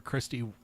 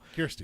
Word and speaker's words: Kirsty: Kirsty from Australia," which I'll never say her name wrong because I called her Christy that first time. Oh, no. She corrected us, and I'll never forget that now. Kirsty.